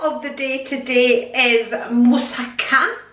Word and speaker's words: moussaka: the day today is moussaka which is the proper way to pronounce it which I can it's quite often pronounces Misaka Misaka so these are the